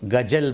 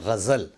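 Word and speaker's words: ग़ज़ल: 7वें number पे लफ्ज़ है, उसको गज़ल बोलते हैं। गज़ल नहीं, उसको बोलें गज़ल।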